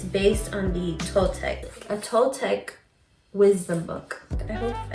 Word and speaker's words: Toltec: Pronunciation. Toltec. Toltec.